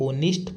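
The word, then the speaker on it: honest: इसमें एच ओ एन इ एस टी में है ना एच साइलेंट है और इसको क्या पढ़ते हैं? ओनिस्ट पढ़ते हैं।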